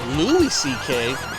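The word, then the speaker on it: Louis C.K.: fans ladies and gentlemen Lou CK oh Lou CK it's not even Louis mispronounced this whole time to be featured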